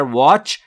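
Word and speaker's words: watch: توجه بفرمایید عزیزان که تی در واچ ناخواناست و تلفظ نمیشه واچ یور سپ جلو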